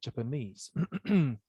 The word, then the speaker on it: Japanese: As for the mistakes, you know, it was strange for me to hear you say Japanese. No, Japanese, yes, but not Japanese. The stress, Okay. the stress is on the knees, Japanese.